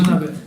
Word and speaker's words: Manabe: Manabe, is this the right pronunciation? Manabe.